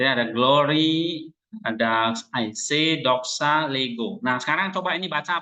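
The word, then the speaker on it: λέγω: Oke Coba tulis transiterasinya lambda berarti l epsilon e Ya kan e-nya e pendek right GMA G Omega o panjang berarti Bacanya apa Lego Lego apa leg Lego bukan Lego sepak bola ya Lego apa Lego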